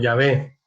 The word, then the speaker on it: Yahvé: Digamos, suponiendo que fuera, bueno, nosotros lo pronunciamos como Yahvé.